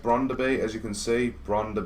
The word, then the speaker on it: Brøndby: got brand to be i think it is pronounced bronder be as you can see